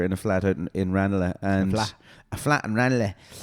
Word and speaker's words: Ranelagh: Matt and I used to live together in a flat out in Ranelagh. And a flat in Ranelagh. Ranelagh, actually, sorry, it's pronounced like that.